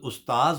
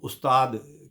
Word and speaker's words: استاذ: نہیں ہو غالب، ناظرین یہ لفظ جو ہے اس کا صحیح تلفظ استاذ ہوتا ہے، ویسے عرف عام میں عوام میں اس کو استاد کے تلفظ کے ساتھ بولا جاتا ہے۔ ریختہ کہ تمہیں استاذ